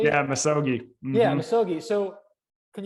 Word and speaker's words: misogi: And so the first one was the chapter on the Misogi, if I'm pronouncing it correctly. Yeah, Misogi.